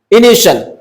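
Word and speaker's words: initial: टी आई ए का sound श होता है। ठीक है? इंग्लिश में इनिशियल।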